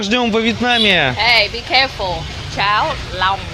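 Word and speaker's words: cháo lòng: Чау лам, а не чау лон. А то ты сказал: «пися». Серьёзно?! Чао лон - это каша из писи. Чао лам! Вот в чём прикол. Самое-то главное, что надо ещё правильно говорить, вот Tilly сейчас объяснила. То есть, оно пишется-то “long”, как по английски «длинный». Поэтому будьте аккуратны, говорите всегда «чао лам».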